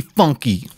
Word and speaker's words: FUNKe: everybody else pronounces it your name is f u n k e and you want to say you pronounce it how do you you're right I want to be funky I am funky here